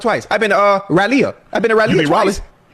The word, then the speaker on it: Raleigh: That That's how you say it. How you say it again? You for real? But it's spelled R A L E I G H.